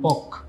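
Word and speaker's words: Palk: question আসবে strait of পক straight strait of পল কে উচ্চারণ হবে এরকম পক তাহলে এই পক প্রণালী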